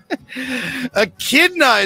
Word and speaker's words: echidna: Echidna is how you say that work.